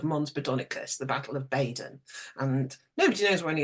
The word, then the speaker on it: Baydon: And just up the road is a village that's called Badon. It's spelled Baydon.